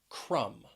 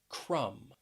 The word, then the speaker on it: crumb: the letter b and often this this letter will be silent when it comes after the letter m that mb combination so let's start with this